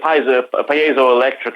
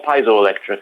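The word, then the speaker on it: piezoelectric: Sapphire through the p pazo Electric effect did I say it right pazo or piso electric how do you well it's piso electric as far as I could tell from the dictionary ah piso electric that's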